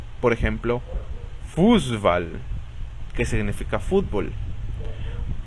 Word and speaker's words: Fußball: Esta letra, que en el abecedario recibe el nombre de SZ, se pronuncia como una S normal, pero causa que la vocal anterior se alargue. Por ejemplo, Fußball, que significa fútbol.